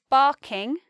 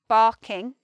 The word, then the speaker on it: Barking: This one is barking, barking.